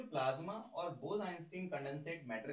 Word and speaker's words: condensate: इसके बाद है that is also called Bose-Einstein कंडेंसेट। Bose-Einstein कंडेंसेट। कंडेंसेट थोड़ा सा आपको स्पेलिंग में अगर कंफ्यूजन हो रही होगी तो मैं फिर से बोलता हूं, कंडेंसेट, CONDENSATE, कंडेंसेट।